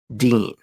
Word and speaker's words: Deen: The name is Salah al-Din, meaning righteousness of the faith, the last syllable being the important one, Deen.